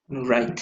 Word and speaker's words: right: Right. Right. Correct. Right. Y correcto también. So right. Very good. Y noten, R-I-G-H-T, right? G-H-T. G-H-T. Pero la GH no está sonando para nada.